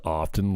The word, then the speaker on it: often: way what's what is is the tea really silent and often why was I beating myself up because I said it wrong when half the people say it wrong nobody says often do they Paul Leon thanks